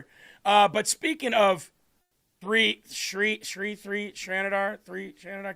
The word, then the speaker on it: Shri: It's It's very easy to pronounce. Shri. Shri.